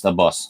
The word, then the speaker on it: Abbas: day trial thing um call me by my middle name abbas pronounce the boss all right boss you